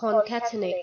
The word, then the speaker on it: concatenate: concatenate I had to look up how to pronounce that here you go cat innate or chemically and we'll get rid of that